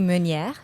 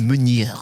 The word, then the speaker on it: Meniere: Roxy Davis and Meniere. Did I pronounce that correctly? Almost. I mean, it's the most interesting way I've ever heard my name pronounced. It's actually Meniere. It is Meniere.